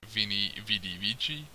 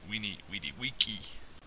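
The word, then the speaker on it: veni vidi vici: always likes so said these uh sound like our W's so that famous Latin phrase Vini vidi vici uh is we need Wiki yeah that's sort of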